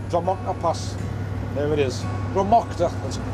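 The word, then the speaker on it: Drumochter: Dromocta, that's how it's pronounced.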